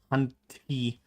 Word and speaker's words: Hunty: Honey says, I once had a cat. I keep saying it like it's honey. I'm not pronouncing the T. Hunty.